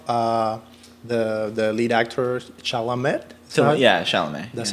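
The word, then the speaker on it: Chalamet: uh I love uh the the lead actor Chala met so yeah that's how you say his name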